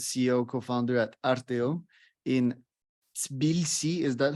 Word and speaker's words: Tbilisi: a bit more about Tbilisi and the startup ecosystem there. Yeah, first of all, Cheryl, thank you for the invitation of your podcast. Yeah, the correct pronunciation is the Tbilisi. Tbilisi.